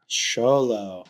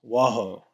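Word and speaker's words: Xolo: Sholo. Yeah. I thought it was Waho or something. Yeah, Sholo.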